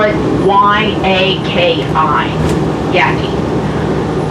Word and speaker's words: Yaqui: first viewpoint this is yeah t point we spell it why Aki yaki it's named after a Native American tribe found south of Tucson into Mexico their desert culture they spell their name y a qu by yaki and then we will be having the shuttle